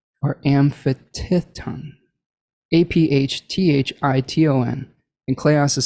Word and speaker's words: aphthiton: Kleos amphitithon, or amphitithon, APHTHITON, and kleos is spelled KLEOS.